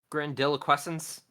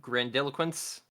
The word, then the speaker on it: grandiloquence: Grandiloquestence. Is it grandiloquence? God damn it. I I added an extra syllable there.